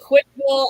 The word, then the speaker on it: CWCville: But yeah, is it Quickville as in Quick? CWCville. CWC. It's pronounced quick, and that's just one of the first weird things that you have to come to.